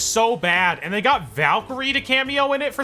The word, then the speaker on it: Valkyrie: Minecraft movie before sorry valky Ray valky R is how it's pronounced Jack Black being Steve